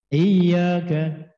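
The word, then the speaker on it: إِيَّاكَ: Iyyaka, tasdid, iyyaka. Jangan enteng-enteng. Iyyaka, jangan harokat setelah harokat fathah, panjang bacanya 2 harokat.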